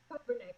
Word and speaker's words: Kobernick: Kobernick, but you're fine.